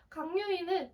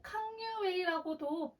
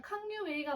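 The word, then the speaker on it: 康有為: 강유위는 캉유웨이라고도 불립니다. 중국 발음으로는 캉유웨이가 맞아서 이제 캉유웨이라고 많이 불리는데요.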